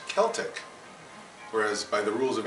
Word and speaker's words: Celtic: word in English and in other languages they still use a soft C French has sent Spanish